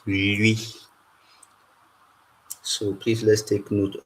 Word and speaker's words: lwi: to Tiap speaking people, no one actually pronounces it as Louis. So there's always a ya sound there to make it Louis.